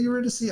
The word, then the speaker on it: Eurydice: Is it Eurydice? I think it's Eurydice. It's both. I've heard it pronounced both.